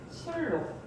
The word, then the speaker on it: 순록: 순록 발음 어떻게 해요? 둘 중에 하나겠죠. 왜? 순, 녹이라고 발음을 하거나 아니면 술, 녹이라고 발음을 해야겠죠. 어떤 발음일까요? 술록 이렇게 발음합니다. 순녹이라고 발음하진 않죠.